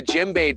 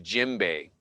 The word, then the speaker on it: djembe: It's almost like the djembe decided when I would learn.